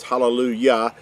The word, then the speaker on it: hallelujah: is always pronounced as hallelujah, even though you may even see it written in your English translations, halal, and it's got a J instead of a Y, but it's always still pronounced as hallelujah, because Yah, or Yahuah, is his name.